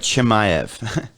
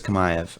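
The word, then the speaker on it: Chimaev: but kamayev okay yeah it looks like chimayev yeah but it's kamaev okay so kamayev is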